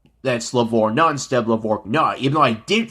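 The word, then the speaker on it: LaVorgna: and knowing that that it's that's levor non-step lavor nah even though i did pronounce it correctly in in the same episode the people who pronounced it lavortna messed up as well adam adam lavorna if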